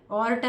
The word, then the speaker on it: aorta: ऑर्टा लिहायचं आहे, AORTA आहे हां. त्याचं स्पेलिंग हे जे आहे ऑर्टा म्हणतात त्याला, ऑर्टा असं पण म्हणतात, ऑर्टा म्हणतात है ना.